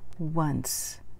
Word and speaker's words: once: sound okay related to this is the word once if I've done something only one time we